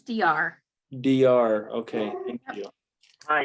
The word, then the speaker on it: Deyar: How would I pronounce your name? It's DR.